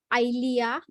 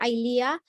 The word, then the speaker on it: Eylea: And I have been I am being injected with a medicine called Eylea, and I'm going to spell it.